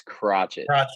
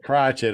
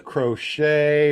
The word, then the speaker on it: Crockett: afraid to say it it's crotchet crotch it okay I didn't know if it was crochet or cry okay crotchet all right I know